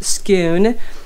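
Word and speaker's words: Scone: back we went to our camping spot in Scoon the Scots pronounced it's just like cows a coup and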